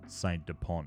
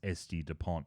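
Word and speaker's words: S.T. Dupont: and he was like it's not saint Depon it's SD Dupont I felt a little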